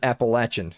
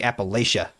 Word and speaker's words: Appalachia: I I tell you what, I bet they don't pronounce it Appalachin. I bet they say Appalachia.